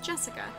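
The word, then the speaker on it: 朱志香: Anyway, this is pronounced Jessica.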